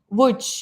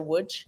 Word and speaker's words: Łódź: Łódź, yes, spelled like with an L, but it's like Yeah. same as Wrocław, Yeah. Łódź.